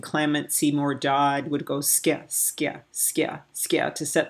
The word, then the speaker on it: ska: Now the British call it ska, but it's not skia. You pronounce it with a Y, like S-K-Y-A, like skia, skia. Ya has to be in there.